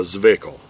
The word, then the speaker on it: Zwickl: Now, I ain't never heard of a Zwickl. It's spelled Z-W-I-C-K-L, pronounced Zwickl.